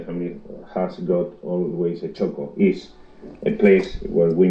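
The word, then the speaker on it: txoko: from gica and your friends you own a Choco and it is spelled TX o KO o and this is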